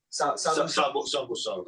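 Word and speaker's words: savusauna: Sabu sauna, yes.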